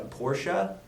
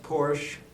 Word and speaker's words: Porsche: Well, last week, maybe, I don't know if it showed in the tapes or not, you said you had a Porsche. But I know that it's actually pronounced Porsche, so...